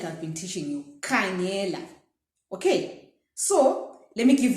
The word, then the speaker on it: khangela: So in Ndebele, ka is KH. As you can see, the way we write KHANGELA. Without the H, it's ga.